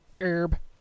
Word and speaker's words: herb: location or curb location herb however you want to pronounce it I need some herbs with my herbal tea it's kind of funny we when we're saying herb we won't pronounce the h but when we're saying